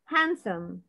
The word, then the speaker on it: handsome: guys handsome I think. لا لا guys حرف الدي ما بنطقهوش. handsome yes athletic adult idiot